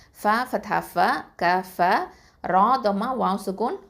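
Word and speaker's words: كفروا: அடுத்தது க ஃபத்தா க, ஃப ஃபத்தா ஃப, க ஃப, ரா தொமா வாவ் சுக்கூன் ரூ, 2 அலிஃப் நீட்டணும் கஃபரூ. அடுத்ததான் அதுக்கு அடுத்து வரக்கூடிய அந்த அலிஃப் இருக்குது பார்த்தீங்களா, அதுக்கு மேலே ஒரு ரவுண்டு போட்டிருக்கோம். அதை வந்து நம்ம உச்சரிக்கக்கூடாது.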